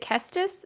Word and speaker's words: Kestis: I think it's is it Kestis?